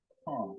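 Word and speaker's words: Carr: Carl, as in C-A-R-R. His younger sister has the last name C-A-R-R as well, too. There's a common occurrence in our family. The Sherrods, the Browns, and the Carls.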